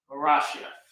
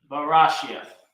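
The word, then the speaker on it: בראשית: Barashia. Barashia. So how do you say that in English? Ba, Ra, Ah, Sh, Ya, Tha. Barashia.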